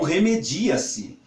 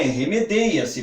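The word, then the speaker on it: remedeia-se: remedeia se que alguns algumas pessoas desavisadas podem pronunciar como remediar se mas na verdade não é remedeia se Porque lembram-se se vocês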